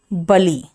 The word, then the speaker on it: burly: बर्ली, बली, बर्ली को हम बली से रिलेट करेंगे। इसका मीनिंग मैंने देखा, अच्छा बलवान, इसका मतलब बली, बली, BURLY में आर का प्रोनाउंसिएशन सॉफ्ट करेंगे, बली।